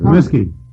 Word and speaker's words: Comiskey: Kieran, how do you pronounce it? Comiskey.